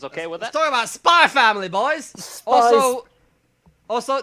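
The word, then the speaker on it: Spy × Family: with that talking about spy family boys also also there is an x in this title you don't pronounce x's in anime for some [ __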